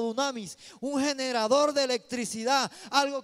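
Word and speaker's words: δύναμις: La palabra poder en el griego se pronuncia como dunamis, un generador de electricidad, algo que iba a generar poder.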